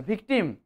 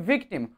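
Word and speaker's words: victim: নিচের লিপটাকে কামড়াতে হবে উপরের দাঁত দিয়ে নিচের ঠোঁটটাকে কামড়াতে হবে তবে ভি উচ্চারণটা আপনার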